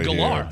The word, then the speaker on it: Gellar: It's actually It's not Sarah Michelle Geller. She is It's Sarah Michelle Galar.